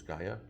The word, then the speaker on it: Gaia: That's across the bridge over in Gaia, or Jaya, I don't know how to pronounce that. Gaia. Christine says Gaia.